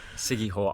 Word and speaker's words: Siquijor: We're currently on Siquijor Island, the J is silent, and we've just been